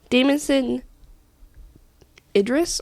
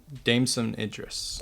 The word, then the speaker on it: Damson Idris: Damon Idris. I have no idea how to pronounce his name. Damson Idris.